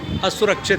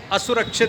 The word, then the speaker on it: असुरक्षित: सही बोलो, असुरक्षित। असुरक्षित। नो सर, नहीं, असुरक्षित। असुरक्षित। ए के ऊपर बलाघात नहीं देना, असुरक्षित।